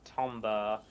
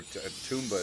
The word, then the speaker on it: Tomba: I played a little bit of Tomba 1 back in the day, but I played all through Croc. You know, funny story about Tomba, or Toomba is how I've always pronounced it.